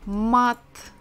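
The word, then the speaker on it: мат: all of these letters ah mat mat just like a mat maybe yoga mat and if we just hear the last sound it sounds pretty hard right kind of not soft matte but if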